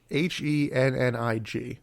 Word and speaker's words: Hennig: Hennig, which I always want to say Kurt Hennig.